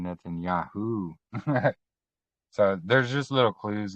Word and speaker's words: Netanyahu: It's not Benjamin Netanyahe. It's Benjamin Netanyahu.